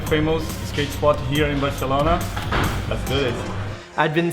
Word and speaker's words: Barcelona: Barcelona, or as the locals say, Barcelona.